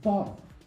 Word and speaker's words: bottle: But don't you feel something's a little bit weird about the word bottle? How many vowels do you think are in the word bottle? Because I'll give you a hint. It's less than two. This is the only vowel in bottle. Why? This is reduced. And what that means is this is silent e.